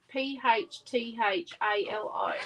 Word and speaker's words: phthalo: of yellow blue and phthalo is spelt p h t h a l o that is phthalo yes yes it is